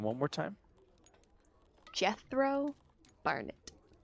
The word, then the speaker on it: Jethro Barnett: Jethro Barnett. Barnett spelled Barn, E-T-T-E. Say his name one more time. Jethro Barnett. Ah, like almost sounds like death row.